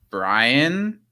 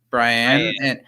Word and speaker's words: Brienne: time whose name is spelled brienne but it's pronounced like brian brian and it i felt